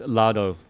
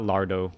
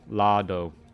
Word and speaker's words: Lado: Anyways, let's Lado Lounge, not Lardo. Lado.